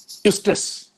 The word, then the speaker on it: eustress: One is called eustress, where E is silent here.